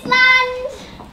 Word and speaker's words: island: safe to say, we have words which contain silent letters. I was sailing on my yacht. Yacht. Oh. To my favorite island.